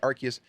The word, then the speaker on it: Arceus: It came out January 28th, and it is Pokemon Legends Arceus, or Arceus, depending on how you say it. I like to say Arceus, which came out for the Nintendo Switch.